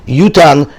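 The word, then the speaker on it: יֻתַּן: Yutan is spelled without a vav, and we say that it's written yitain, and it's pronounced yutan.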